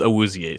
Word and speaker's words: Awuzie: The pronunciation is Awuzie, so kudos to you for actually getting that.